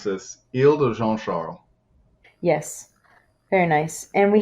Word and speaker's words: Isle de Jean Charles: which is very different yeah so i would pronounce this il de jean charles yes very nice and we have some other